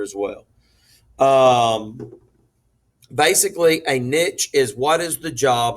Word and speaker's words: niche: All right, the next word is pronounced niche right there.